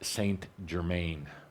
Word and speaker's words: Saint-Germain: I come from the energy of Saint-Germain – Saint-Germain (pronounced in the French).